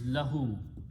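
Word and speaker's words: لَهُ: First word is lahu. Lam with a zabar here, fatha and hu.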